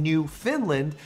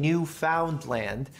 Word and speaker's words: Newfoundland: is a Newfoundland and I know it sounds like I'm saying New Finland but I'm saying Newfoundland in a way that